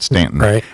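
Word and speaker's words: Staunton: which they spell it Stanton, but they pronounce it Stanton.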